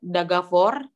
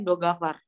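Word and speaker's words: договор: Kayak Dagavor, itu kadang orang ngomongnya Dogavar.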